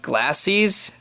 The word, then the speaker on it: glacis: The front, I think that's pronounced glacis. I don't know, it's GLACIS.